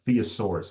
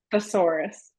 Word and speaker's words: thesaurus: sounds nuts you take I always pronounce this word wrong a theasaurus is it thesaurus or theasaurus thesaurus thesaurus yeah I get it wrong open up a thesaurus